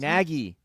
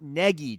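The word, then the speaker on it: Nagy: It's the long a sound.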